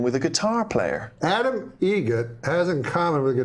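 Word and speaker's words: Eget: It's a joke, an Adam Egget joke. How do you say the name? Adam Egget. Egget, spelt differently. Like the bird. That's Egret.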